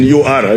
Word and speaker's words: Ur: It is written U-R. I don't know how they pronounce it. But we pronounce it in our language, Uri, Mesopotamia, and settled in Haran, Canaan.